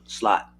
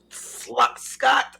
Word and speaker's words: Scott: at that this is Scott I was saying your name wrong so Scott thank you for coming to the store yeah I was saying slot no Scott's a good